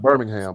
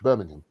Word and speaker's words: Birmingham: it was in uh let me make sure I say it correctly Birmingham in the UK in Birmingham not Birmingham but Birmingham because when I first